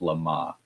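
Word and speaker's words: LeMat: Now, I took the wrong language in high school and college, so I my French pronunciation is probably awful, but I've heard it pronounced Lama.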